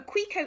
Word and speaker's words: Cuica: called a Grieco Grieco that's how you actually spell it a bit different to how you say it Rico a quico is a drum from